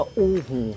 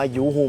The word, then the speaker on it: UHU: อู้ ฮู ซะ เลย สรุป สั้น ๆ ก็ คือ แบรนด์ นี้ เ เขา ชื่อ ว่า อู้ ฮู แต่ ถ้า เรา จะ ออก เสียง ว่า ยูฮู เหมือน เดิม ก็ คง ไม่ ติด อะไร หรอก เดิน ห้าง อย่าง